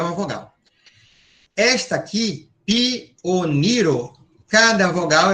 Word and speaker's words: pioniro: Esta aqui, pioniro, cada vogal é uma sílaba. Pioniro. Então, a acentuação é no ni, certo? Não é ni, é ni, certo?